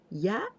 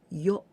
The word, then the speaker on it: 夜: During daytime, 昼間 night, 夜 and we also pronounce ya or yo.